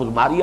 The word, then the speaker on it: ماریہ: اور یہ حضرت ماریہ، یہ میری در حقیقت ماریہ کہلاتی ہے، اس لیے کہ عربی میں یہ تلفظ ماریہ ہے اور وہ انگریزی میں میری ہے.